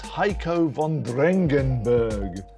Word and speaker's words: Heiko von Drengenberg: Mate, he's your friend and you still can't pronounce his name right. It's Heiko von Drengenberg.